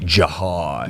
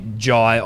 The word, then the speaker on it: Jhye: To our knowledge, the only Jhye on planet Earth who spells their name Jhye. Jhye. Jhye. Yes. Jhye. Very aggressive. If you're going to put the H in there, I will pronounce it.